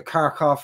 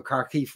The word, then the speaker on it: Kharkiv: the Russian forces against the Kharkov or the Kharkiv region, depending on which accent you want to use in pronouncing that.